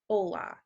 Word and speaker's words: hola: So I know this word has an H in it, but in Spanish, you don't really say H's. So hello in Spanish is hola.